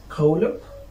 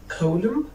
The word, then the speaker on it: column: Cylinder N, you cannot pronounce it after M at the end of the word.